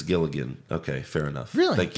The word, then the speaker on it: Gilligan: true he said pps you guys pronounce it gillian it's actually vince gilligan okay fair enough really